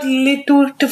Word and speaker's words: Lilitu: Don't spell out Lilitu for me. L-I-L-I-T-U.